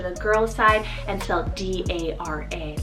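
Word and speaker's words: Darragh: side as well is the name dara so d-a-r-r-a-g-h dara now this one means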